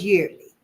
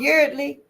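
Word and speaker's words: Yeardley: Ain't they got some soap out there now at the Dollar Tree called Yearly? If I see it, I'mma get one for a dollar. I'm just saying. Judge Pory and it's spelled Y E A R D L E Y.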